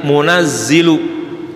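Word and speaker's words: مُنَزِّلُهَا: Bitakhfifi dibaca dengan tanpa tasydid, munzilu gitu. Wa tasydidi dan dengan tasydid, munazzilu. Jadi boleh bacanya qalallahu inni munziluha, satu, qalallahu inni munazziluha, ya. Kalau munziluha itu nuruninnya sekaligus. Kalau munazziluha nuruninnya secara perlahan-lahan, sedikit demi sedikit.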